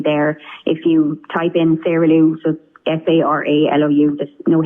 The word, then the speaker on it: Sara Lou: a look for that as well so it's Sarah Lou or as people might pronounce it as you say saralu s-a-r-a-l-o-u Sarah